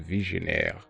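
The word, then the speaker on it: Vigenère: this Cipher is from French and it's apparently pronounced visionaire it is what I personally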